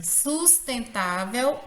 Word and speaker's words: sustentável: mesma regra observada em sustentável é. Qual é a regra aqui que rege essa acentuação da palavra sustentável? Ela é uma palavra paroxítona, porque a penúltima sílaba dela é a sílaba mais forte.